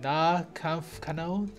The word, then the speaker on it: Nahkampfkanone: At tier 5 you have the, oh boy, you have to pronounce this for me, The Nahkampfkanone?